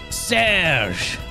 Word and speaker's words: Serge: Paul says you said Serge's name wrong. Serge! Is that better? That's better? Okay.